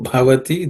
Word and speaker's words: bhavati: Matto bhavati, the bha has to be aspirated.